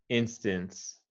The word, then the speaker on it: instance: instance okay so i'm not i'm not really hearing the s sound at the end try to say it a little stronger instance instance just like performance yeah right instance performance yeah okay and here we're emphasizing the first syllable instance yep instant instant